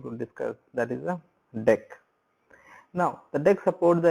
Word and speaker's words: deque: It is usually pronounced as deck.